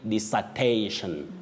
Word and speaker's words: dissertation: But Betty, we say disa, not disa or desa. No, you say dissertation. Dissertation. We have what we call now the voiceless sound disa, not disa. And not desa.